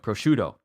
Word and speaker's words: prosciutto: but now I I now I know it prosciutto prosciutto prosciutto prosciutto I know how to say